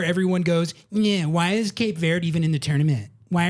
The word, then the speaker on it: Cape Verde: There's about 40 different pronunciations. We're going with Cape Verde.